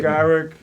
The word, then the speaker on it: Garrick: Garrick and Bob. Oh, you say? Garrick.